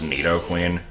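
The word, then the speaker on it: Nidoqueen: yet let's fight another one I suppose Neo Queen still has the best back Sprite and for the record I know it's pronounced Neo Queen like the entire family is but I'm so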